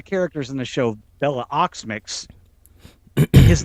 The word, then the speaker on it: Okmyx: no, Although there is one of the characters in the show, Bella Oxmix. His name is spelled OKMYX. I want to say Oxmix, but it's Ox. Oxmix.